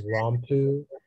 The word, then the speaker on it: rompu: rompu can yeah uh the only pronunciation is rompu it's an adjective and